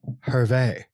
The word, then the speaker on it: Hervé: And Pat, just a heads up, the pronounce that guy's first name is Hervé. I had to look it up because it was bothering me. If it had the little swoop on the E, it's Hervé.